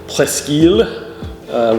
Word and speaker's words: Presque Isle: So the hoity-toity French or others speaking French would say Presque Isle, which is how it would be pronounced in French.